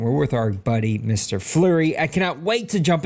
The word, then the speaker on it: Fleury: Yep, it's just Fleury.